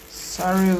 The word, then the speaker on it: sorrel: Sorrel.